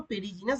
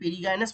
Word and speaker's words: perigynous: স্তরে একই স্তরে থাকে তাকে আমরা কি পেরিগাইনাস বা পেরিজিনাস বাংলায় বলছি লেখা আছে কিন্তু এর একচুয়ালি উচ্চারণটা হচ্ছে পেরিগাইনাস ফ্লাওয়ার বা পেরিগাইনাস ফুল পেরিগাইনাস